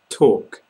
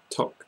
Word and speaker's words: talk: the end there fishbone talk talk so for this one you're making the vowel sound in the middle nice and long I know some people who pronounce it more like tock tock tock that is